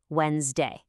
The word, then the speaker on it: Wednesday: We completely ignore that D and that middle E when we say it. It's just two syllables, Wednesday. That's it, Wednesday.